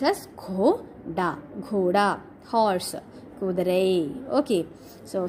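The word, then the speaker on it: घोड़ा: Ghoda means horse. Gha and da. Okay, gha and da. Gha is having symbol of o and da is having symbol of a. That's why pronounced as ghoda.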